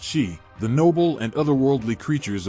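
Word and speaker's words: Sidhe: power and Grace reside these are the city pronounced she the noble and otherworldly creatures of Celtic myth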